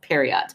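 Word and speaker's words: Priott: to look it up the way it's spelled is p r i o TT yeah which would be pronounced periot but whatever it's fine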